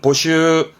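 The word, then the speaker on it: 募集: 될 것 같습니다 잘 나옵니다 모자 했서 예 발음은 보슈 보슈 모집에 보쉬도 자주 나옵니다 뭘까요 그렇죠 비밀의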